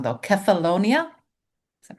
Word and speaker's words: Kefalonia: Kefalonia. Is that right? Kefalonia.